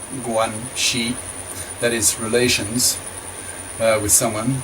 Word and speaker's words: guanxi: If they have no guanxi, pronounced guanxi, that is relations with someone, then the probability